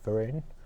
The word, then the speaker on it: Vereen: yourself hey um so my name is Vereen um which people also pronounce Varan for in all sorts of ways and I go buy